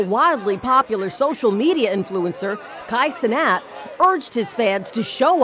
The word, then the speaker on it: Kai Cenat: there now I believe his name is Kai sanat I believe that's the way you pronounce his name now he's holding this